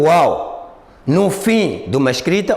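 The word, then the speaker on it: و: Nós encontramos o Waw, o som do Waw, quando os dois lábios juntarem-se incompletamente.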